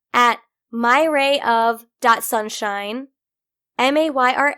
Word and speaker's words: Mayra: that's only because I'm Hispanic my name is pronounced Mayra and it's spelled ma y RA ma y